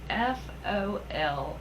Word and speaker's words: foliage: i looked it up and it's actually spelled f-o-l-i-a-g-e now this might just be a me thing